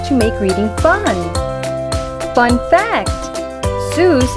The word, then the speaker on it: Seuss: make reading fun fact Zeus is supposed to rhyme with boys not goose the doctor never minded that people mispronounced it a creative kid Dr Seuss was born Theodore tetsu Geisel on March 2nd 1904.